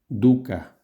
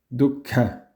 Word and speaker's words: dukkha: ¿Cómo se pronunciaba Dharma en la antigua India según las reglas de pronunciación del sánscrito? De esta manera. Dharma. 2. Dukkha.